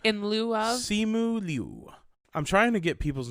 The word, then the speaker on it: Liu: I know how to say his first name, but the last name is like Liu, but like you have to have just a tiny bit of the I sound in Liu. Like in lieu of? Simu Liu.